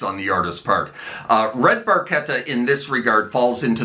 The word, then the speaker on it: Barchetta: Now then, Red Barchetta, that is Barchetta and not Barchetta, by the way, as Geddy erroneously pronounced it the one time he mentions it within the track.